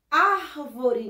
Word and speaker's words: árvore: Qual é a sílaba mais forte? Ar, não é isso? Então, ó, a sílaba tônica da palavra árvore é ar.